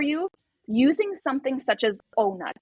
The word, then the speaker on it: O-Nut: Another thing is, if depth of penetration is painful for you, using something such as O-Nut. It's OH N-U-T, literally how it's spelled.